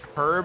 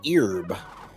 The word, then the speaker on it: herb: future I don't know is it pronounced herb or herb herb Silent Age yes then it'd be ERB the H of silence is ERB that would be